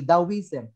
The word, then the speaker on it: Taoism: So Taoism is the same as Taoism. Huwag kayo malilito doon. Kaya pag lumabas, letter A, Taoism.